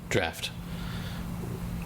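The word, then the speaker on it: draught: except they say it draft it's spelled like drought but they say draft uh the no I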